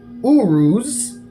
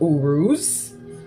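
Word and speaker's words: Uruz: this is your room so this room is pronounced Urus it's the Rune of Urus okay and it represents strength and Triumph all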